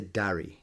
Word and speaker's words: Darry: I would say Darry. Darys. Darry, yeah. The Darys. But you see that goes to my pronunciation because, Princess Leia, her real name.